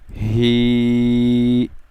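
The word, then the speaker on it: ح: All together एक साथ तीनों को हा ही हू। नेक्स्ट है हा। ये जो हा है हलक के दरमियान वाले हिस्से से अदा होगा। दिस हा will be pronounced from middle part of the throat.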